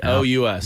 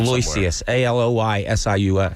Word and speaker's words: Aloysius: Aloucious. Vicious. Not even close. No. Not even close? There's an X in there, I believe. Aloysius.